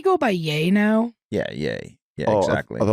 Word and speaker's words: Ye: yeah, yay. Yeah, Oh, exactly. I thought it was Yee. Oh, I Or may Yee.